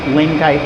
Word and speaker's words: Lienkite: Everybody has been using Lin-kite tooling for years. It's spelled Lienkite.